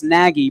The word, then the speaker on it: Nagy: Nagy? Yeah. Okay, yeah. So N-A-G-Y, like the old baseball pitcher Charles Nagy, but it's pronounced Nagy.